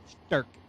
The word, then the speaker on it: Sturk: Andrew Sturk. I'm not stuttering, I'm saying it right. Sturk.